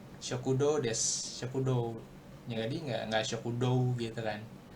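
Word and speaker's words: 食堂: Bacanya ini aja kokowa shokudo desu. Jadi u-nya tuh kayak nggak kebaca gitu sebenarnya. U-nya. Kalau kita melafalkan shokudo. Shokudo. Okay. Jadinya o-nya aja yang sedikit lebih panjang gitu. Shokudo desu, shokudo.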